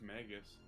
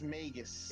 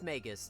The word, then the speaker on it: Magus: __ ] slapped him I thought it was pronounced Magus it's megus it's megus technically but I I I I say it